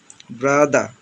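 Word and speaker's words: brother: মাদা, sister, ব্রাদা, এভাবে উচ্চারণ করতে হবে।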